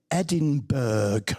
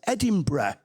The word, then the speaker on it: Edinburgh: So, I've got business colleagues and I'll take them to Scotland on business and they call it Edinburg. Okay. I'm like, what are you talking about? It's Edinburgh.